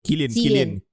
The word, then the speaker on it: Cillian: Cillian ke Killian? Killian. Tak, nama dia Cillian. I mean it's pronounced Cillian. Tak, tapi orang panggil dia Cillian Murphy. Oh, is it Cillian Murphy? Okay, so it's pronounced Cillian Murphy then.